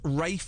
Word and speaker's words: Ralph: not no it's not it's spelled r a l p Ralph Ralph so so it's Rafe mctell is it no